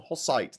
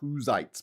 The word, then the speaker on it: Hussites: it wasn't h although we do call them hosites not huzites but whatever his name is